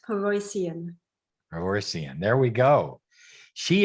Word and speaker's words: Paroissien: here with you today my last name a bit of a tongue twister is pronounced peroycion reversion there we go